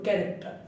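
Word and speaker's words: character: C plus S থাকলে ছ, ছর মতো উচ্চারিত হবে, কিন্তু ব্যতিক্রম আছে ক্যারেক্টার, ক্যারেক্টার বানানটা আমরা সি এইচ কেন ক হয় এটা আজ ব্যাখ্যা করতে পারিনি বা এটা জানিও না।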